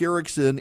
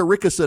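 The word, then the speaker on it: Erickson: you this is true they can cannot say Erikson they can't do it it is physically impossible in south Georgia your host and this show is not Eric Ericson and the Eric Ericson show it is Erica rickerson and the Eric rickerson show they they cannot do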